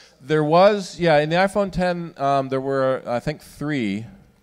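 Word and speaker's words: iPhone X: thing again is an iPhone 10 or is it ifotx and from Apple it is 10 it's a Roman numeral 10 that's pronounced 210 but people still accidentally call it X yeah John yes right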